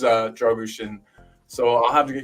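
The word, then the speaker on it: Drăgușin: And then David Shear saying that my mom's spot on with the pronunciation, so I think it is Dragushin.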